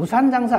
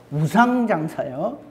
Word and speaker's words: 우상장사: 제가 발음을 잘해야 돼요. 우상장사했다 그랬는데 누가 우산장사인 줄 그렇게 알고 있더라고요. 우산장사 아니고 배울적에 쓰는 우산장사 아니고 우상장사요.